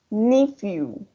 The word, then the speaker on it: nephew: Probably you already know the word new. I'm gonna write here. Let me see if I'm able or not to write. Yeah, probably you know the word new. So here you have nephew. Yeah, it's the same pronunciation. You. It's gonna sound like an you.